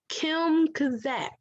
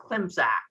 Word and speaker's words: Klimzak: I think you did great, Dr. Klimzak. Klimzak, okay. I added an extra syllable, but that's okay.